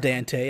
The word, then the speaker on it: Dante: Dante over here and yes it is pronounced Dante I know I speak Italian Dante knows that Nino's